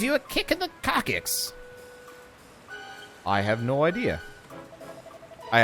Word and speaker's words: coccyx: I have no idea how you pronounce it. It is coccyx.